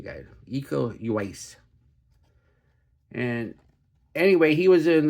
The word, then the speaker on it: Uwais: Yeah, you say the U really quickly. I looked at the pronunciation guide. Eco Uwais.